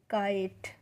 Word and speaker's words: kite: और देखिए ई का प्रोनाउंसिएशन हमें नहीं करना है, तो KITE काइट।